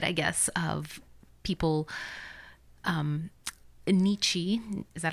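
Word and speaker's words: Nietzsche: the dark side I guess of people um Nichi is that how you say his name nietzsa okay the philosopher um who basically said our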